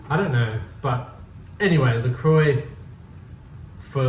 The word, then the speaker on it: LaCroix: It's called LaCroix, and I'm sure if you're French, you pronounce it LaCroix.